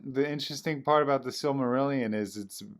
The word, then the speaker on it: Silmarillion: Silmarillion. Silmarillion, yeah.